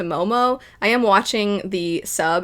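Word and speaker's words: Maomao: I did look up a pronunciation of this character's name, and it would seem it's pronounced Mao Mao. But it does kind of sound a little bit closer to Momo.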